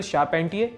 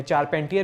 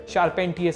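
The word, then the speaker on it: Charpentier: Emmanuel शारपेंटियर, इन्हें चारपेंटियर भी कहा जाता है, लेकिन फ्रेंच नाम है इसलिए शारपेंटियर सही प्रोनाउंसिएशन है, और जेनिफर डॉडना।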